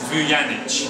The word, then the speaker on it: Vujanic: Basically, correctly pronounced, it's Vujanic. Vujanic. Vujanic! Vujanic! Because we're in England, the J is not a Y as it is in my nation.